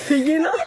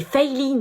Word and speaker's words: Feyelin: Feyelin? C'est Feiline. Bah, c'est écrit Feyelin. Oui, mais ça se prononce Fei, c'est américain en fait, et Line parce que c'est asiatique.